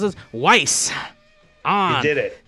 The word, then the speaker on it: Weiss: Weiss. You did it. Yeah, Weiss like nice.